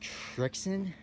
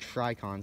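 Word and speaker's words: Srixon: to pronounce it and someone's like trixin is if it's pronounced friction i'm not pronouncing it that way i like tricon so much better so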